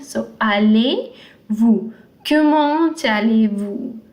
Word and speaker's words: allez-vous: you will say comment allez-vous. This Z, the Z is not pronounced because it's a consonant in the end. So allez-vous.